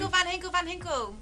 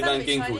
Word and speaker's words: Van Ginkel: Lizzie, if you say Van Hinkel enough times, Chidge might realise how to actually pronounce his name. Van Hinkel. You always say Van Ginkel, Chidge. Van Hinkel it is.